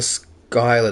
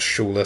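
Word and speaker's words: Schuyler: And then I mean, oh, Eliza Skyler, not Schuler. Sorry. That's right. It's spelled interesting.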